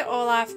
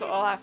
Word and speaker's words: Olaf: I say Olaf because everybody says Olaf because of Frozen. But he says Olaf because he has an Uncle Olaf.